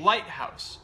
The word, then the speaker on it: lighthouse: So when you you put stress on the first syllable, yes, right?